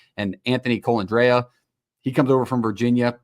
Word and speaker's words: Colandrea: No, it's not. It's Colandrea. I watched because let me talk to you. I reached out to Matt Neverett, the radio voice for the UNLV Rebels, and he told me the pronunciation, and we talked at UNLV football.